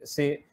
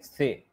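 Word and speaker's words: ثاء: So they say Alif, Be, Te, Se. The right way of pronouncing these Arabic letters is Alif, Ba, Ta, Sa. This is how you pronounce it in Arabic.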